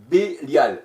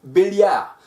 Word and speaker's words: Bélial: 18 il s'agit de Bélial Bélial ou Béliard tout dépend la prononciation alors la parole de